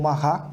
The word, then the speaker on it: Marat: O Jean-Paul Marat, né? Ele é francês, é dessa forma que se pronuncia.